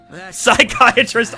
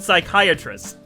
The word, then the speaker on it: psychiatrist: he's not male wife psychiatrist uncle to share a few last words but punkle doesn't work because you don't pronounce the p in psychiatrist and sunkel doesn't sound